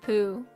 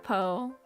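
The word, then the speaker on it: Pou: Like, I think, and I just learned that Poe is actually pronounced poo. It's pronounced poo and not Poe.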